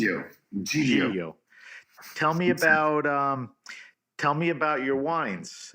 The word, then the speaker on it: Giglio: How do you pronounce it? Giglio.